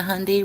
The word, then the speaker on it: Hyundai: apparently the Hyundai the Hyundai rhymes with Sunday was registered to a